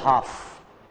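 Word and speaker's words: half: दो होते जसे बच मैंने बोला हाफ एच ए एल एफ तो ए को मैं बोलूंगा एल को नहीं बोलूंगा जब दो कंसोनेंट एक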